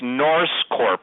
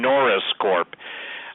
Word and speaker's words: Norse Corp: to make this clear it's Norse Corp I will spell it everybody thinks I'm saying Norris Corp okay n o r